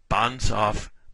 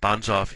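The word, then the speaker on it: Banzhaf: It's going to be called the Bonsof Power Index. That may seem like kind of a funny word. Bonsaf is someone's name.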